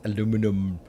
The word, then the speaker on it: aluminium: going to say alumin aluminium so be feel free to comment in the in the comment section that it's fix it is an American corporation and therefore it should be pronounced aluminum but I'm not going